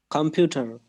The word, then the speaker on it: computer: পরে উচ্চারণ বলতেছে vocabulary, okay, it's right, vocabulary, okay? এটা কম্পিউটার। কম্পিউটার স্ট্রেস হচ্ছে computer, EU পরে।